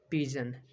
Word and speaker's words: pigeon: PIGEON, पिजन। जी के आगे कौन सा है, क्या है, ई है, जी के आगे ई है, तो इसका उच्चारण क्या आ जाएगा, पिजन, पिजन, जो का उच्चारण आ गया, पिजन, पिजन मीन्स कबूतर।